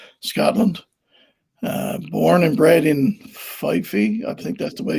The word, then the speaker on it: Fife: Born and bred in Fife, I think that's the way you pronounce it, Kerry.